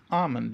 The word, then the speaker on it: almond: The L is silent. It's almond. Almond.